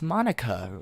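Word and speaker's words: Monika: how you say my name at all it's Monica know also that jokes makes no sense in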